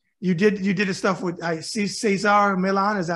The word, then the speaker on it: Cesar Millan: You did the stuff with Cesar Millan. Is that how you say his name? Cesar, right. Yeah. I had a company, Cesar Millan.